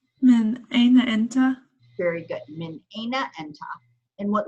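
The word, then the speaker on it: من أين أنتَ: Min aina enta.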